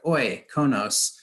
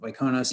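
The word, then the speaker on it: Oikonos: we're called oyconos uh the pronunciation there is like oi konos um if you struggle with the we're looking at that word and pronouncing it um iconos ecosystem knowledge we're a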